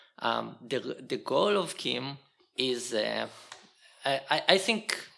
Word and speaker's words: CIEM: when they coined it they decided that you need to puton it like there is a k at the beginning so they actually wrote pronounced Kim um so I'll try to pronounce it Kim um and the way